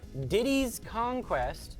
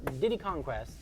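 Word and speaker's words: Diddy's Kong Quest: And then Donkey Kong Country 2, Diddy's Conquest. That is how it's pronounced. It is not Diddy Conquest.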